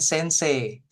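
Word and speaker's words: 先生: Kemudian sensei. Sensei. Jadi terakhir dipanjangin dikit, I-nya malah nggak kebaca.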